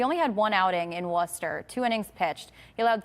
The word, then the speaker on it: Worcester: Worcester. Worcester.